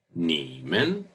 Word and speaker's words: 你们: 我们你们他们 Remember the differences in the third person.